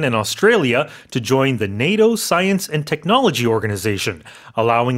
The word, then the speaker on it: NATO: But in English, you pronounce it with a long A.